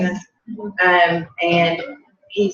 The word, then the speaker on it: Seamus: Seamus?